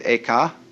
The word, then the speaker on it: Eka: The second was named Eka, I'm using the Japanese pronunciation, who was formerly a general of the army.